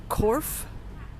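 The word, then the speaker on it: Cobh: In relation to shipwrecks, town nearby here, spelled C O G H, pronounced Corf, was the last side of land for many Irish immigrants as they left here and there.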